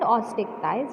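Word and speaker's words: Osteichthyes: One is chondric thighs and ostick thighs. How to pronounce? Chondric thighs and ostick thighs.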